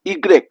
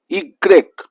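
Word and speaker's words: i grec: Y is also pronounced differently. Y is pronounced as Egre. Y is pronounced as igre.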